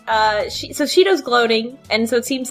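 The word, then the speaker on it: 4℃: And that's pronounced Shido. Shido.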